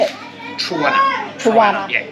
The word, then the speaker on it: Trowunna: Trowunna.